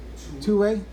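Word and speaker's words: Thue: is wilson's theorem and whose house is pronounced again two-way and norwegian this is a Norwegian guy I'll get more to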